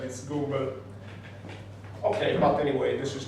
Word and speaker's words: Gumbel: the pronunciation wouldn't be Gamble, but would be Gumbel, like we say in Italian.